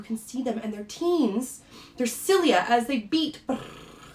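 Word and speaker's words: ctenes: they have what's called teens so again i'm i'm not pronouncing the c it's not teens right i'm just pronouncing the t the c is silent so it is considered 18.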